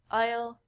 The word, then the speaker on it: isle: also sound like this the s in these words are silent we don't say isel and i soul we say i'll i'll i'll this isle is a